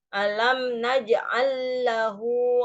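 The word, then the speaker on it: أَلَمْ نَجْعَلْ لَهُ: Alam naj'al lahu ainain. Nah, ini kan lamnya ada dua nih. Yang lam yang pertama naj'al disukun. Yang depannya juga ada lam, lahu. Nah, itu diidgham, di tasjid, Bu.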